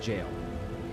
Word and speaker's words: gaol: fantasy 14 that uh gaol is pronounced jail yeah we use that spelling here in australia really i have never seen that spelling until finally 14.